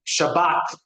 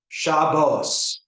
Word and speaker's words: Shabbat: We pronounce what's called a kamat as ah. Well, I'm sorry, not a kamat. Uh yes, a kamat. Sorry, we pronounce a kamat in in in in spartic Hebrew as a while ashkenazic uh uh Jews often pronounce it as o shabos.